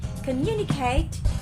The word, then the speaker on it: communicate: we have a communicate communicate is on the second syllable so we have four syllables come the vowel sign